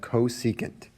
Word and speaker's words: cosecant: e c a and t and that's read cosecant okay this is actually the only one whose